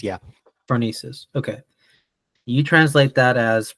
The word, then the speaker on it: Phronesis: So you wrote a piece about, am I pronouncing this correctly? Phronesis? Phronesis, yeah. Phronesis.